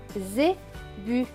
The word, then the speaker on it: zébu: Le S à la fin est écrit en bleu, donc il ne se prononce pas. Donc ce mot va se lire Z, bu, zébu, zébu.